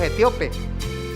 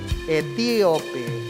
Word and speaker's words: etíope: como ese hombre etíope porque tiene el acento en la i siempre cuando leemos esa parte decimos etíope pero tiene un acento en la i etíope cómo voy a entender